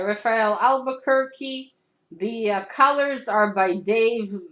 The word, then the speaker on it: Albuquerque: me I think fiverr told me how to pronounce that thank you right Raphael Albuquerque the colors are by Dave make mek Kagan